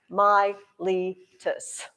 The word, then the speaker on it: Miletus: just south of that myelitis it's spelled exactly like it sounds m-i-l-e-t-u-s my litus which is really where